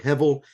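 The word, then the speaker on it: הבל: The Hebrew word hevel, that's spelled H-E-B with an underline, which gives the V pronunciation, E-L, so H-E-B underline E-L.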